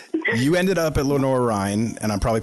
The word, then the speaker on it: Lenoir-Rhyne: You ended up at Lenoir-Rhyne, and I'm probably pronouncing that wrong too, but you were...